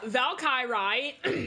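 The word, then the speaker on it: Valkyrie: pronounce blights yeah yeah Val Chi Rai is American so that's how it's pronounced Calvary no it's it's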